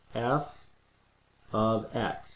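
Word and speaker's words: f(x): This little symbol here means f of x. That's how we pronounce that, f of x.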